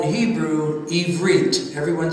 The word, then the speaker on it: Ivri: And one who is a Hebrew is pronounced in Hebrew, Ivri.